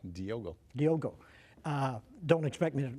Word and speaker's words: Diogo: Diogo, am I saying it right? You got it. Diogo.